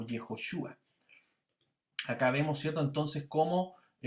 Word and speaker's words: Yehoshua: Se pronuncia, la primera parte es Yah, y por lo tanto ahí Yehoshua.